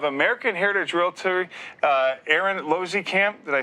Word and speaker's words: Losekamp: the owner of american heritage realtor uh aaron losey camp did i say it right this time yes